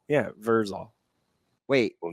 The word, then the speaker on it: Vrzal: It is capital V, capital E, capital R, and then lowercase z, lowercase a, lowercase l, lowercase Vrzal. Yeah, Vrzal.